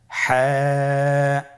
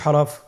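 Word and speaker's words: حاء: হা এর মধ্যে কোন নুক্তা আমরা দেখতে পাচ্ছি না। হা হরফটি কিভাবে উচ্চারিত হবে? হা হরফটি উচ্চারিত হবে কন্ঠনালীর মধ্যখান হতে। গলা চিপে ধরে আপনি উচ্চারণ করুন।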